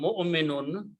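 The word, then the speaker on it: مُؤْمِنُون: Do not pronounce this wow. Wow is just written down there, okay, as a chair for hamza.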